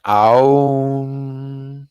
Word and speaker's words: Om: How to pronounce the Om sound. So there's three main syllables, A, U, and M. It really does, it's not like Om, it's more like an Aum.